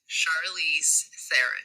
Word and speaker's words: Charlize Theron: did find it here she is how to pronounce charlize theron well that was it charlize sarah boom there it is i feel no more